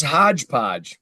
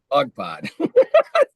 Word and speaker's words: Hogpod: there and Janie goes, "What's this hodge podge?" I go, "Hogpod." Correct. Hodge podge. As long as they spell it right, who cares? Yeah. I told I go, "It's not hodge podge, but close."